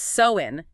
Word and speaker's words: Samhain: Yeah, and it's probably good to start with the pronunciation because it trips people up. It's Soin. So, So in.